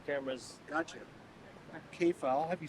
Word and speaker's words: Kepha: Kepha, I'll have you spell it in a second.